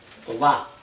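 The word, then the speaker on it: טובה: acentúa Toba. es tobá. Toba. La A.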